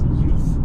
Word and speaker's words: Euph: when I wrote that, it's spelled E-U-P-H. And you read it as Oof, and I originally thought of it as youth, like euphoric. And I was like, I actually like Oof better.